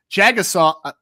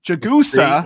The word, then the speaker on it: Jagusah: it makes complete sense but jagga saw sorry i already did it jagusa it wasn't me i know i know i've been saying it wrong for months too so charles jagusa